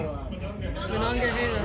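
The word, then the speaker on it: Monongahela: is the Alageney, the river that starts with an M that I'm not going to try and pronounce. Manonga.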